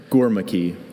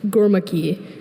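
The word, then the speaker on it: Gurmukhi: Are there any alternate pronunciations? Just the one. Gormaki. Gormaki.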